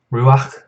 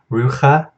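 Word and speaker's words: רוח: Next we have ruach, ruachot, ruach. Notice this is a furtive patak right here, so it's pronounced before this chet, so it's not rucha, it's ruach.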